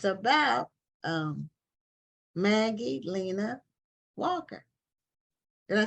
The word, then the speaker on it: Maggie Lena Walker: And it's about Maggie Lena Walker.